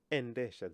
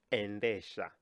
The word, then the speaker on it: endesha: So the verb to drive in Kiswahili is endesha. The verb drive in Kiswahili is endesha. Can you try and pronounce that? Endesha. E-nde-sha. Endesha. Good.